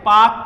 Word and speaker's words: Palk: पाक जो शब्द जो है वो ये है जहां पे एल साइलेंट हो जाता है, PALK, ये है पाक।